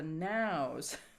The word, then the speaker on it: knowes: the Yows, Tay the Nows, which means call the sheep to the field. The female sheep, EWES, is pronounced yows in Scottish. And nows, the fields where they're in, is spelled KNOWES.